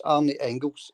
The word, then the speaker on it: Arne Engels: Yeah, sorry, I pronounced this boy's name wrong, John. It's Arne Engels, the guy's name from Osberg.